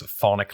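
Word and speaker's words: chthonic: of them online like this thonic Lighthouse no I don't have a lisp that's how you say it the map itself is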